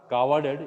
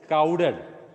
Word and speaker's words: crowded: Not cowarded, it is crowded. C-R-O-W-D-E-D.